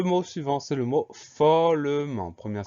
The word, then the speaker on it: follement: Donc on sait que ça s'écrit M-E-N-T, donc le son en E-N, et la dernière lettre muette, le T qu'on n'entend pas.